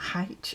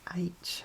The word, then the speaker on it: H: It's not H, it's H. And then my mum would spell it A-I-T-C-H.